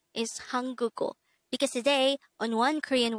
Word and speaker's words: 한국어: this is pronounced as a three syllable word the first syllable is han second syllable is third syllable is o pronounce it with me hanguko the word hanguko